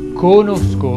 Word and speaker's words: conosco: conosco uno molto bravo conosco si pronuncia con la o chiusa conosco Beh mi raccomando quella